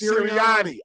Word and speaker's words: Sirianni: It's Sirianni.